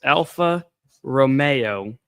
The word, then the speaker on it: Alfa Romeo: It's Alfa Romeo, spelt Romeo, as my wife likes to say, like Romeo and Juliet.